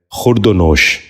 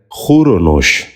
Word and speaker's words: خور و نوش: خروج۔ نواں لفظ ہے خورد و نوش۔ یہ غلط تلفظ ہے، درست تلفظ ہے خور و نوش۔ دوبارہ غور سے سنیے،